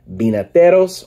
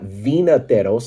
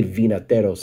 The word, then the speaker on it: Vinateros: so they called themselves binateros or Spanish for winemaker so the v in Spanish is pronounced like a b so it's not Vena teros I mean if you say vinataros it's fine uh but